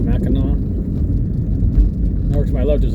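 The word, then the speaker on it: Mackinac: Are the Mac as some people would be just see Macinack Bridge because it's spelled M M A C K I N A C pronounced Mina over to my left there's a sports club sports shooting place.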